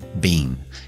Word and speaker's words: been: Y ya be se convierte a been. Y lo vamos a pronunciar con la I corta. Been.